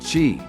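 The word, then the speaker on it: Qi: flow of energy is known as Chi pronounced Chi for this practice acupuncturists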